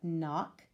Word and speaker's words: knock: the words we've got knock with the silent K at the beginning wrong with the silent